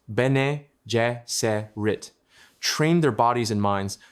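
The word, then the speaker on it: Bene Gesserit: The Beneserit sisterhood, pronounced Benjit, trained their bodies and minds to achieve superhuman control and perception.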